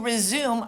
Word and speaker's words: resume: So to resume, R-E-S-U-M-E, if you stop something, to resume means to start again. So you pick up where you left off. So let's say I stopped this lesson for a minute, then I would resume it when I would start it again.